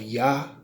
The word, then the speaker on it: Yah: know what it is psalm 68 and 4 tells you how to say it but it's spelled why hwh okay but those who've